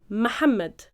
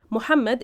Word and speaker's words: Muhammad: The Egyptian colloquial pronunciation of this name is Muhammad. Okay? Muhammad is the modern standard Arabic pronunciation of the name. In Egyptian, we say Muhammad.